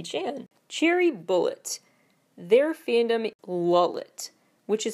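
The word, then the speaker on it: Lovlet: Cherry bullet their fandom lulet which is supposed to be pronounced actually more like roulette like louette and so that's a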